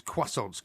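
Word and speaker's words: croissants: Uh that Porky Loves is quassons.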